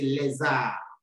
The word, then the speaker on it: les âmes: Since R begins with a vowel, you change the pronunciation of the S to be Z, Z, and you join the two words, le and R, to say les âmes.